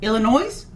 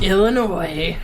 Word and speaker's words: Illinois: illinois to that's right the s is silent um illinois no not even if it's plural illinois um but i hate